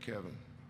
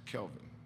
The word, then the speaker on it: Kelvin: said Kevin nope nope it's not Kevin it's Kelvin Kelvin ah don't matter Kevin